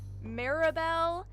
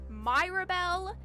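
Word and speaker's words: Mirabelle: So, how they're canonically pronounced is Seaffron, Marabel, Isabel, Odal, and Bonafos is how all of their names are canonically pronounced. I when I first played through this game, I pronounced all of their names Cifin, Myrabel, Isau, Odial, and Bonnyace. I pronounced all of their names wrong.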